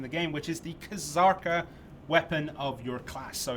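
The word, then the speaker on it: Kzarka: zurk ER is busier kazarka and i saw it in chat the k is not silent because it's not a translation from korea it's a transliteration you pronounce all the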